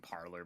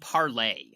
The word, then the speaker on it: parlay: way yeah by way it's actually called parlay oh I don't know if you knew that I had no idea that's how that's how that's how it's pronounced it's like a French word which is hilarious because